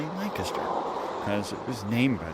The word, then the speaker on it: Lancaster: which, of course, yes, we pronounce it just like the English. We don't say Lancaster like an American would. No, we say Lancaster because it was named